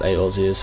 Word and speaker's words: Eorzea: Limsa Lominsa prides itself on being Eorzea's, sorry, I think it's pronounced Eorzea's foremost naval power.